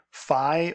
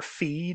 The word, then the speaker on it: phi: is denoted by the Greek letter phi or phi, depending on how you choose to pronounce that. So I generally say phi.